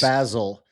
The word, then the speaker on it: basil: Basil. And that's the European city I like the best because they actually pronounce the herb correctly. It is the correct and preferred pronunciation. And yet we all say basil like it's some dude in England.